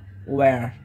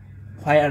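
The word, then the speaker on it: where: এটা ওয়্যার, ইটস ওয়্যার, হোয়ার না, ইটস ওয়্যার।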